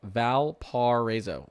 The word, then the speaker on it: Valparaiso: Okay, Valparaiso is pronounced Valparaiso.